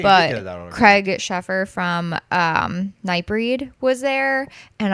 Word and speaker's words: Sheffer: Is it Schaefer or Sheffer? Sheffer.